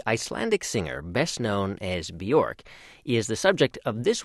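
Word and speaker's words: Björk: Bjork. Okay. Guðmundsdóttir. Even though most English speakers say Bjork, it's not really Bjork. It's Bjork. Bjork. Yep. I usually say it rhymes with jerk.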